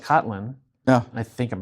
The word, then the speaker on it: Kotlin: So like Kotlin. Yeah. I think I'm pronouncing it right.